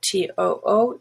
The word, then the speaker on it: to: if it means also, T-O-O, those are always pronounced two. But as a preposition, and as prepositions are usually not stressed, it's just T. And that's a dead giveaway. If somebody says to school or to work,